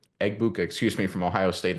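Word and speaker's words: Egbuka: Bua, Eggbuka, excuse me, from Ohio State, if I can say his name correctly.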